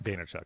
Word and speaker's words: Vaynerchuk: And then VaynerMedia, you pronounce the last name Vaynerchuk? Vaynerchuk, yeah.